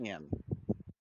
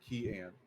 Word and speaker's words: Kian: Kian. Key like the letter, like the thing you use at the door, and then Ann like the woman's name. Okay, Key Ann. All right. But slightly faster than that, so it don't